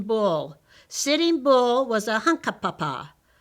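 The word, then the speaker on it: Hunkpapa: sitting bull was a hunka papa you say it like this hunk paw paw his tribe lived in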